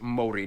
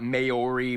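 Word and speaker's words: Māori: korea and japan yes by the way it's pronounced mori not maori maori they use the new zealand dollar as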